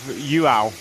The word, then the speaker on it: João: I've been given a well done on my pronouncer of João. It's J-U-A-U is the phonetic spelling, Matt.